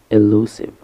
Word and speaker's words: elusive: And finally, we have elusive. Elusive. Elusive has three syllables. The first one is a short A, lu, with the U like in dude, and sieve with a short E like in ship.